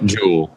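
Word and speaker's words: Joule: wearable sholay is that is that how you pronounce it Jolie no jewel jewel oh I was gonna say chill day Joel a jewel and Angelina Jolie yeah but it's jewel so these for the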